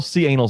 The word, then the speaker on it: Canal: Oh, look, it's all C anal side. Oh my God. What do you? That's their name. Katie. It is not their name. Jack, how do you pronounce that? It is canal.